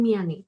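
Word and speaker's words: 미안해: dan Mia Neo dan miane Oh J miamita dibagi jadi du miano dan miane di sini kan ada H ya Mi he dan mi nah dia si h-nya terbaca samar Jadi bukan tapi sebaya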